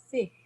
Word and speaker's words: Sikh: disciple point one seek which is pronounced sikh in punjabi is a word which